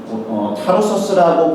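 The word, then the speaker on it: Tarsus: 사울이라는 사람은 찾으러 다소로 갑니다 사울의 고향이라는 다소 타로서스라고 발음이 되는데요 오늘날 터키의 메르심이라는 도시가 있습니다 메르싱 부분에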